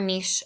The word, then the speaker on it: niche: focus on biomes we talked about Niche or Niche a little bit before again that word can be used either way or pronunciation either way is find is fine um so how many potential